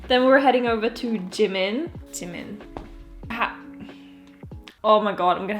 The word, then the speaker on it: Jimin: Heading over to double page model Jimin, not Jimin. I'm just gonna pronounce it in a very Korean way.